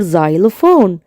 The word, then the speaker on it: xylophone: أما حرف الإكس لو اتحط في أول الكلمة ولازق جنبيه على طول الحروف التانية فبيتنطق ز sound زي كلمة xylophone.